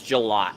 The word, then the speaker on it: Gillott: His last name's Gillott, not Gillette. I know you're trying to have some fun there, but his last name is Gillott. Gllotte. So it's pronounced Gillott.